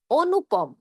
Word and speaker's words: অনুপম: যেমন ধরুন অনুপম। যদি কারো নাম রাখেন সেক্ষেত্রে কিন্তু ও এর মত করে বলতে হবে অনুপম।